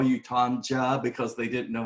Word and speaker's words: Tonja: Tanya. So, yeah, he disappeared for a minute. No. Well, anyways, it's Tonja, right? We said Yeah. it's Tonja.